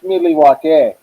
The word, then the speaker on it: Milwaukee: It's pronounced Milwaukee.